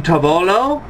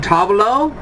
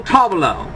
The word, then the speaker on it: tavolo: Un tavolo, no, not tavolo, sorry, wrong pronunciation, try it again. Un tavolo, il tavolo.